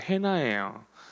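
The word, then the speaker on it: Hannah: 영어 발음으로 한나가 영어 발음은 해나예요.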